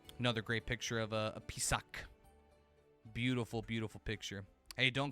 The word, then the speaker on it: Pisac: Yes, P-I-S-A-C, Pisac. The Pisac ruins. I know, it does sound like P-Sock, doesn't it?